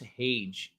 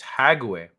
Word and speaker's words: Hague: War crimes are tried at the Hage, pronounced Hage. Oh, okay. How is it pronounced Hage? It's Hague.